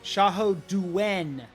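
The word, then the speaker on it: 夏侯惇: Xiahou Duen, not Dun. Xiahou Duen.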